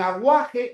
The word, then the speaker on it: aguaje: Me pregunta, "Profe, la palabra aguaje en aguaje no hay dígrafo, por si acaso." Aguaje o no, porque la u se está pronunciando, ¿no? Aguaje como en agua.